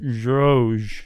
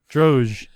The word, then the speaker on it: Drozd: How do you pronounce that? Is it D silent or the Z? Or neither one? Droge. Or both? Droge.